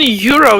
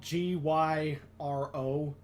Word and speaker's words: gyro: these hang on it's it's spelled g y r o so it's like you initially think gyro but it's y yeah oh oh yeah